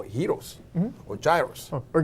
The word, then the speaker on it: gyro: And they make what they call gyros or gyros. Or gyros of around here.